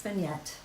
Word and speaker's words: vignette: Then you pronounce the T because there are 2 T's and a final E. Beignet has 1 T and it is silent. Ah. Thank you, Pam. So I'm right. It's vignette.